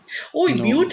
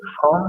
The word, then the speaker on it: ओम: बताना चाहता हूँ कि जो ओम का उच्चारण है, ये अ उ म पूरा नहीं, इसमें हलंत है तो बंद होना चाहिए म.